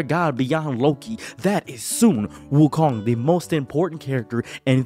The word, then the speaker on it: Sun Wukong: in fiction period ever now many people are going to tell you well it's Sun Wukong get stop right there he pronounced the name incorrectly ignore him he stuttered